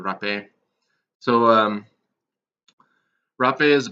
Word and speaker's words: rapé: in English and they just call it Rafi and in French it would be called the rough a so rough it is